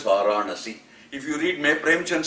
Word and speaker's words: Varanasi: pronunciation of the words I for instance know it is Varanasi it is not Varanasi you will get by with Varanasi but it is not if you have